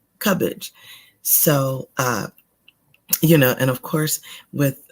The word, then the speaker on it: Cubbage: And it's Cubbage, just as you read it right there, Cubbage.